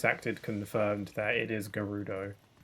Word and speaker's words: Gerudo: confirmed that it is Gerudo, not Gerudo. Gerudo doesn't make sense to me. Why would you assume that's how it's pronounced when it's spelt with a G?